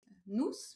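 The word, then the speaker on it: Nôus: Pour moi, nous, puisqu'on dit, on dit nous, Oui. euh, donc ça s'écrit N-O-U accent circonflexe S.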